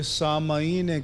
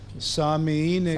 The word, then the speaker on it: سامعین: سی غلطیاں ہیں، جیسے یہ سامعین کرام نہیں ہوتا، سامعین کرام ہوتا ہے، میم کی نیچے زہر ہوتی ہے، الغرض نہیں ہوتا، الغرض